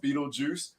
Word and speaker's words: Beetlejuice: I don't even know what it says, So just for everybody knowing it, when you read it, it is pronounced Beetlejuice.